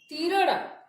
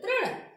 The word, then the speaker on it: तृण: उसी तरह से आप बोलते हैं बिरिछ, मीरग, तीरण, तो आपका गलत हो जाएगा। आपको वहां पे ऐसे उच्चारण करना है कि मानो कि री उसमें मिला हुआ हो। कृपा, वृक्ष, मृग, तृण।